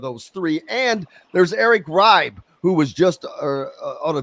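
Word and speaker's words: Reibe: And there's Eric Ribe, who was just on a visit here. Is that how you say his name, by the way? It's Ryby, Eric Ryby.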